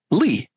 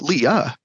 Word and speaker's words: Lea: name it's really important my last name is Lee it's spelled Lea so often it's mispronounced Leah but my name